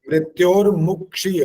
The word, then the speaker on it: मृत्योर्मुक्षीय: मृत्योर मुक्षीय, मुख ऐसा मुंह बनना चाहिए उस समय। मृत्योर मुक्षीय मामृतात्। ये हाँ, मो नहीं आना चाहिए, मुंह छोटा हो।